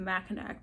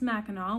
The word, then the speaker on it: Mackinac: oh yeah i'd like the one with the mackinac bridge and the the gentleman looked at me he's like it's actually pronounced mackinaw welcome to michigan i was like okay cool